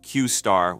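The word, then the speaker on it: Q*: model was known as Q asterisk pronounced qar within open AI this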